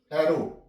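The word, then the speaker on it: arrow: नहीं आएगी follow follow एरो यहां प भी एंड पे डब् आ गया है तो डब् साइलेंट हो जाएगा एरो ओ तक इसकी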